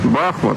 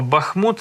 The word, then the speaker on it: Бахмут: козаками все буде Україна Бахмут - це Україна Бахмут - це Україна або Бахмут - це Україна якщо правильно наголос ставити і справді бачимо є